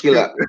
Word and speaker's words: Kilaika: It's like Malaika, which is Swahili for angel, but it's Kilaika, which is Kiswahili.